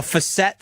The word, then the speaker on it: facet: It's facet, not facet.